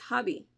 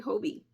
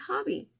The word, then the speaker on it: Hobbii: to pronounce it and they're like oh it's hobby I was like why really cuz I say Hobie they say it's hobby I don't know if